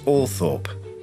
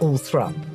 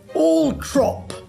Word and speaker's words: Althorp: kid Diana's mother one day and I pronounced all Thorp and she said no Paul no thrup not all Thorp all thrup if you're well posh I think and go